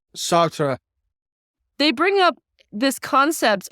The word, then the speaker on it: Sartre: They bring up, how do you pronounce his name? Sartre. Sartre.